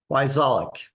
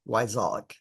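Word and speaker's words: Wyczalek: Every other letter is silent. So it's W-Y, C as in cat, Z as in zebra, A-L-E-K, Wyzolek. Sounds just like it's spelled.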